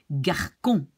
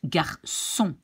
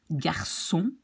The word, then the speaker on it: garçon: So if this little thing underneath the cédille is not there, you should say garçon. And we want to pronounce garçon. So then you make the C in a little S by putting this little tail underneath. So this is garçon. Here we have it again, ça, merci, ensemble.